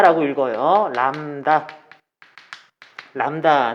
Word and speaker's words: 람다: 신앙의 나오는데 f 다시 진동수 프리퀀시 그리스 잘 남 다 라고 읽어요 나옵니다 람다 는 빛의 파장을 얘기를 한다 관련된 용어 그리고